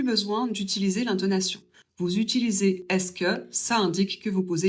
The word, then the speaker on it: est-ce que: Et on le prononce tout simplement est-ce que.